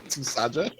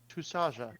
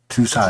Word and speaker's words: Tusaja: Susaja? Say again. Susaja? Mark, how close is he to the pronunciation of it? Tusaja. Tusaja. It's a softer J. It's a bit of a softer J.